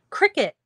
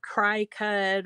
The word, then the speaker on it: Cricut: that the name is pronounced cricket like like a bug instead of cry-cut or whatever else they